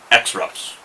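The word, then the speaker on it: X-Rap: X wraps you know really to pronounce this correctly you'd have to call these extras extras I got a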